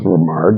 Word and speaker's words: RaMaar: My name is Romar, and a lot of people know me as Mar.